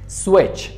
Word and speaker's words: switch: Switch, switch, switch را میگه لامپا که switch میکنیم گروپا. Switch پیش CH تلفظ نمیشه switch یا scratch نیست.